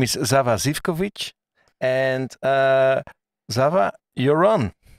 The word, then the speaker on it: Sava Zivkovic: from belgrade awesome guy uh his name is zava zivkovic and uh zava you're on hello hello how